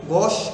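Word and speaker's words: gauche: इसका जो प्रोनाउंसिएशन है वो गोश इसको पढ़ा जाता है। क्या पढ़ा जाता है? गोश।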